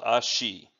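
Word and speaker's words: 足: The second character, which we have seen in earlier videos, is called ashi, and that means either foot, leg, or it can also mean a step.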